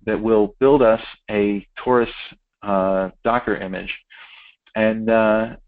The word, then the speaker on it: Taurus: installing uh Taurus which is uh uh it's pronounced Taurus but it's spelled dzt um uh via the